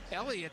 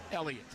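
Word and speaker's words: Heliot: of the hot hitters of baseball Elliot BR Elliott spelled h e l IO T but the H is U not worthy of pronouncing so it's just Elliot Elliot Ramos he's a strong looking guy at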